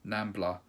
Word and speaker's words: NAMBLA: He's a convicted pedo, member of the NAMBLA, that's how you say it.